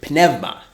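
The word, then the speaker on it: πνεύμα: The English word spirit is a translation of the Greek word penevma. Uh the u pronounced like a v when it's after an epsimo.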